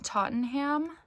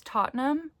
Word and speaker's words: Tottenham: Also Service by John Tottenham. I thought it was Tottenham, because I'm pretty sure that that's how you say it in England, but I heard it pronounced Tottenham. Tottenham, I think.